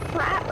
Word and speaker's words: frappe: That's a frappe. Like you just call it. Like no one calls them frappes either. It's pronounced frap.